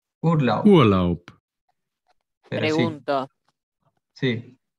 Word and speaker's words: Urlaub: Excepción, Birne, la B al final de la palabra se pronuncia como una P. Cuando termina la palabra, como una P. Pero no es como una P en realidad, es como una mezcla, ¿no? Sería como Urlaub.